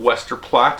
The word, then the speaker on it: Westerplatte: uh so anyway this is 7 Days of Wester plot I believe that's the right way to pronounce it uh definitely take a look at